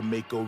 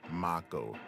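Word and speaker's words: Mako: We get in, we blow up the Makeo reactor, and then we out. Um, actually, it's pronounced Macco reactor.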